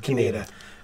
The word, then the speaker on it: Kienata: Kienata. Kienata. It's kind of like Canada, but not.